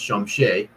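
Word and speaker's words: Chomche: In the dying minutes of the draft, another deal was struck with the Minnesota Timberwolves that allowed the Raptors to take Ulrich Komche, pronounced Shumshe, with the 55th overall pick.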